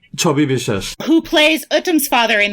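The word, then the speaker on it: Chhabi Biswas: Chobi Bishesh.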